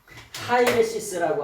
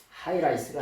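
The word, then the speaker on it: αἵρεσις: 하이레시스라고 하는 말이 뭐냐? 하이라이스가 아니라 예, 하이레시스예요.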